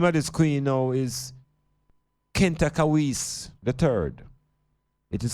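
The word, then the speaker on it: Khentkawes: civilizations the name of this queen now is Kent kawis the third it is spelled k h e n t a k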